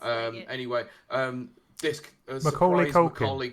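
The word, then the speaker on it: Legate: How do you pronounce his bloody Leggett, name? yeah, it's Leggett.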